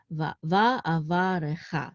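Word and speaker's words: וַאֲבָרְכָה: So this is the accent is on cha, va'avarecha.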